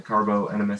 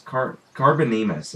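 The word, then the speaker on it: Carbonemys: recipe to do the Carbo Enemus saddle. Is that what it is? Carbonemus, I think is how it's pronounced, because there's not an extra E. So Carbonemus, that's turtles.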